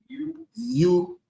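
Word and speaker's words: ewe: How you pronounce it? Ewi you lamb.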